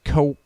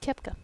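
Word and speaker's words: Koepka: Happy birthday to Brooks Coep. I'm kidding. I know how to say it. Kepka. It's Brooks Kepka.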